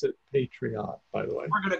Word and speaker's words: Patreon: listened to the people on patreon and they pronounce it patreon by the way I'm gonna go with that there were some people say Patri on patreon that's paid they say patreon and patriotic